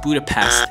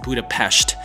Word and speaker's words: Budapest: Budapest is the capital of Hungary it's not pronounced Budapest it's Budapest a city considered to be the most attractive